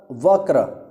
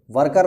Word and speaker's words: वक्र: का तत्सम है व वक्र वक्र र ठीक है वक्र र ठीक है इसका सही उच्चारण यही होगा व क्र र वर्कर नहीं होगा आप वर्कर बोलोगे तो गलत हो जाएगा भाई ध्यान रखना देखो